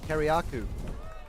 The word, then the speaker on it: Kiriakou: That's how you pronounce Ben's last name, Kiriakou.